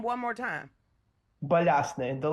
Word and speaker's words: Balyasny: My first name is quite easy to pronounce. Last name is Balyasny.